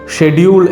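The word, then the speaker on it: schedule: ഞാനൊരു എക്സാമ്പിൾ പറയാം, ഷെഡ്യൂൾ എന്ന രീതിയിലാണ് നമ്മൾ ബ്രിട്ടീഷ് ഇംഗ്ലീഷിൽ അത് നമ്മൾ പ്രൊനൗൺസ് ചെയ്യേണ്ടത്. ഓക്കെ, അതായത് ഷെഡ്യൂൾ, ചില ആളുകൾ അങ്ങനെ തെറ്റിദ്ധരിക്കുന്നുണ്ട്, ഷെഡ്യൂൾ എന്ന് പറയുന്നത് തെറ്റാണ്, സ്കെഡ്യൂളാണ് പറയേണ്ടത് എന്നുള്ളത്.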